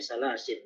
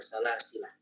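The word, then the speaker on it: سلاسل: Jadi kalau ingin berarti di lafaz salasil surat Al-Insan bacanya salasil bukan salasilah.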